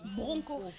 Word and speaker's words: broncho: Riyama Djabi qui dit ça s'écrit broncho mais on lit bronco.